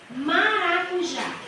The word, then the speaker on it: maracujá: preciso acentuar eu tenho a palavra maracujá maracuj já o já é a sílaba mais forte a última é mais forte Então ela é uma